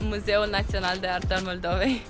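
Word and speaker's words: Muzeul Național de Artă al Moldovei: Museu Nacional de Arta al Moldovei. Quite clever. How do you say it? It's Museu Național de Artă al Moldovei.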